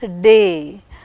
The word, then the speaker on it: retardation: In retardation, retardation, which one is receiving primary stress? Retardation, and the secondary stress re on the first syllable, retardation.